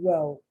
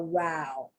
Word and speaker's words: row: British English, now this is British English when it means argument. In American English, no. It's only pronounced row. But in British and in English, when it's an argument, it's a row.